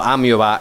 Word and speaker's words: амеба: Ameba, pronunciado Amiova en ruso o escrito Amoeba en inglés, hace referencia a un patrón de camuflaje que en realidad había sido diseñado años antes, concretamente en 1932.